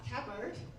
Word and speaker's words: Tabird: Tabird. Hello. Do you want to introduce yourself and tell us how to pronounce it? Uh, Tabert. Tab key and bird together.